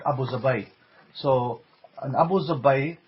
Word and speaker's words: Abu Dhabi: Dhabi and you know you guys don't pronounce it the way they pronounce it because you know you don't speak Arabic so they don't call it Abu Dhabi they call it oppose away so an opposed to